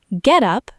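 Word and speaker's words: get-up: Get up, noun, stress on get, equals outfit, clothes.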